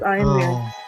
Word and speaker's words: Ian Ziering: Oh, and he pronounces it Ian? Ian. It's Ian Ziering.